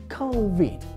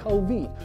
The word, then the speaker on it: COVID: Стосовно другого складу від, воно вимовляється так, як і українське слово від. Тому в нас виходить COVID. COVID.